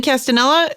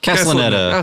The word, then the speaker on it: Castellaneta: like, and that like Dan Castanella, is that how you say his name? Castellaneta. Oh, close.